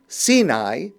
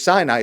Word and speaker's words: Sinai: on words the the the name sini which we pronounce in English Sinai but sini is related